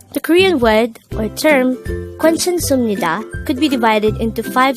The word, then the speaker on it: 괜찮습니다: divided into five syllables the first two syllables are is formed from the combination of the sounds but take note that the sound way is formed from combining the sounds of o so it's like which gives up the whey sound the next syllable is